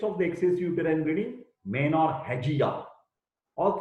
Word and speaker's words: menorrhagia: Pronunciation menorrhagia.